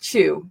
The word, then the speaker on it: Tzu: a bit Lao Tzu, T-Z-U, pronounced Chu, C-H-U.